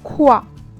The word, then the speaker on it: quoi: Then we have Q plus U, that will be pronounced like k, which will give you example here, like in kite, where what we can pronounce here is like quoi, what, quoi. It will be just one sound.